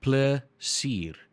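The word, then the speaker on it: plesier: you then we've got pler seer but you got to say it quicker placir excuse me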